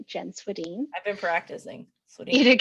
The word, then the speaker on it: Swedhin: that good stuff um okay so great job pronouncing my last name you did it right jen swadeen i've been practicing eat it good on my